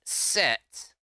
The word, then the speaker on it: CET: It requires a cyber engine tweaks or CET or set, because cyber engine tweaks will often be abbreviated as CET or maybe pronounced as set, and it requires tweak XL.